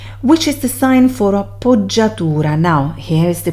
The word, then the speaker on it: appoggiatura: And also I teach you the pronunciation, appoggiatura.